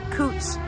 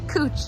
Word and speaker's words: Couch: this street is called cooch it's it's spelled couch they told me it's pronounced cooch oh Lou Louis it's